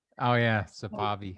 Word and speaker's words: Safavi: Actually, it spells like safari, but with a V instead. So it's Safavi, but as you can imagine, most Americans pronounce it Safavi, just like safari. Oh yeah, But Safavi.